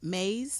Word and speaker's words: Myss: It's M-Y-S-S. I heard it pronounced Mays. I heard it pronounced mice. So we're going to say Mays.